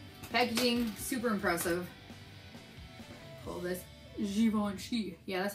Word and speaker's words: Zoya: a little tassel packaging super impressive pull this xoni yeah that's how you pronounce it so here's the color it is